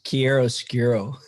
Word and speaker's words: chiaroscuro: His bio says he is a chiaroscuro. Not right? No. You say it. How do you say it? It's chiaroscuro.